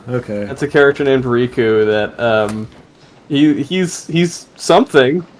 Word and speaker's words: Riku: that's a character named Riku that, he's something, It's somewhere. it's actually pronounced Rick. It's a mistranslation because the Japanese pronunciation of Rick is Riku.